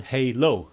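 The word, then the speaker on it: HaLow: And it's called Halo. That's how it's pronounced.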